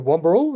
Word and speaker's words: Wamberal: They're paddling from Browns Beach in South Australia all the way, I'll probably stuff this up, to Wamberal, is that how you say it, in New South Wales?